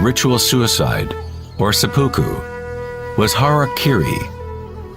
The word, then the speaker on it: harakiri: suicide or seppuku with harakiri was often mispronounced as Harry Caray it means to impale